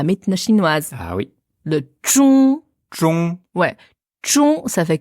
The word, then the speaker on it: 中: Le G est assez peu prononcé en fait. Hein. Surtout pas zhong. Voilà. Surtout pas. En fait, pour moi, il appuie sur la nasalité du son plus que le son G.